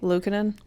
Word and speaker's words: Luukkonen: Luukkonen?